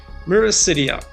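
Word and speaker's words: miracidia: baby blood flukes called, let's use the English pronunciation here, Myricidia.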